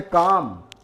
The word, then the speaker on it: calm: इसी तरह से काम, शांत, ये काम पढ़ेंगे CALM।